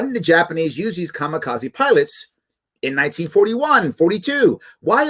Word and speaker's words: kamikaze: probably heard of the famous or infamous japanese kamikaze which is actually should be pronounced kami kaze which actually means divine wind